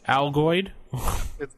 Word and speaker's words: Algoid: This is how many L's did you just put in it? Algoid. There you go. Algoid. Like Altoids. Like Altoids.